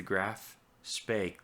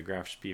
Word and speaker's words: Graf Spee: submerged mounts it's the graph spake class I finally said it right the graphs pay I've been calling this the Graf Spee for a while but gosh Bay finally pronunciation corrected at last thank you for